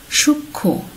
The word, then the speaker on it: সূক্ষ্ম: এখানে সূক্ষ্ম বানানটিতে যুক্ত খ পূর্ব থেকে ছিল, তার সাথে আবারও গিয়ে মফলা যুক্ত হয়েছে, সে কারণে কিন্তু আমরা এখানে মফলার উচ্চারণ করছি না।